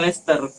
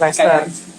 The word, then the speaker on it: Leicester: Iya loh, Maguire Leicester main loh, makanya ditarik. Pronounce-nya Leicester. Kamu ketemu grammar Nazi itu dihabisin kayak gitu. Yang pronounce itu dibenerin. Cok. Leicester.